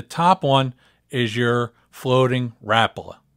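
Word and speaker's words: Rapala: one is your floating rapola notice I said Rapa that's how it's spelled that's how it's said the floating Rapa is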